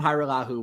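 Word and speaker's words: Hajrullahu: So they signed Liram, Hairulahu. I've been working on this all morning, and I even have it written phonetically. Yep. Liram Hairulahu will kick for Dallas.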